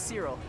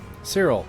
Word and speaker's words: Cyril: Oh, the name's Cyril. Cyril.